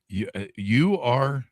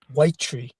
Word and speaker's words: Uy-Tri: Actually, the way it's supposed to be pronounced is white tree, like a white wow.